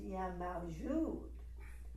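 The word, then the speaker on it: Ya Mawjud: So that word is yamajud. Accent on the jud.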